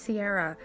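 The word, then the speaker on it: Saoirse: My faves were, I always want to pronounce it Kira because I'm Irish, but I'm pretty sure it's Sierra.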